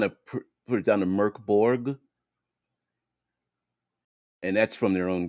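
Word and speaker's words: Mörk Borg: will let's see if Mork bore is Swedish for dark four and is pronounced Merc merkborg so even they at least maybe for us they they've kind of put it down to Merc Borg and that's from their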